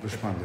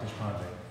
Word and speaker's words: Deshpande: And first place goes to Stephanie Deshpande. Is that how you say it? Yeah. Deshpande. Mm-hmm. Deshpande.